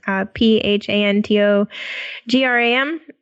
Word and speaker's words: Phantogram: It's Phantogram.